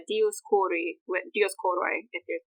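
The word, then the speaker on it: Dioskouroi: Actually, that name, the Dioscuri, that's the Latinization of it, but it's Dioscuri, Dioscoroi, if you're pronouncing it ancient instead of modern Greek.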